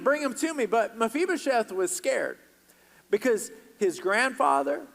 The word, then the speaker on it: Mephibosheth: man's name and it's mephibosheth everybody say mephibosheth on three and you pronounce it Mafi Beau Chef all right one two